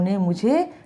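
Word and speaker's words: numb: नम का मतलब होता है सुन्न होना और इसमें बी जो होता है वो साइलेंट होता है, इसे हम नम ही पढ़ते हैं।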